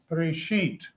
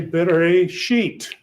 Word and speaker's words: Bereshit: So here you got B-R, silent letter, S-H-Y-T, Bereshit. So put a dot over that, put a dot here. So that tells you to say Bereshit.